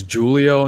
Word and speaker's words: Julio: And we should just want to make it clear, Julio, that that's how you pronounce your name.